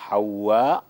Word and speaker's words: হাওয়া: করেছেন হাওয়া আলাইহিস সালাম অনেকে হাওয়া বলে যাই হোক সঠিক উচ্চারণটি হচ্ছে সঠিক উচ্চারণটা হবে হাওয়া আলাইহিস সালাম উনাকে আল্লাহতালা